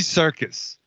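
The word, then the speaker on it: Serkis: with the big top you know what you can spell things differently and have it be have it sound the same raven shadow phonetically they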